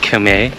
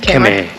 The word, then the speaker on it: Khmer: Also, I've checked hundreds of times, and Hannah ignores me, that it's pronounced Khmer, like Khmer, instead of Khmer.